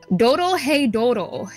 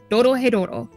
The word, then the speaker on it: Dorohedoro: But this week I am talking about Doro Hey Doro, and if you want me to spell that out, just in case I'm mispronouncing it, it's DOROHEDORO. Doro Hey Doro.